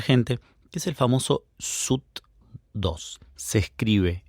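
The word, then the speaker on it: Soothe2: Hoy en 2026 sigue siendo bastante actual y poco comprendida por mucha gente, que es el famoso SUT2. Se escribe s o O t2.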